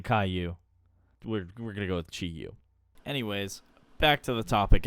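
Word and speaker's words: Chi-Yu: hang on pronunciation okay it's chiu I thought it was Caillou and that would have been that would have been pretty funny I don't know some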